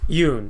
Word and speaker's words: Joonas: Yes, I believe his name is a Y sounding for the J.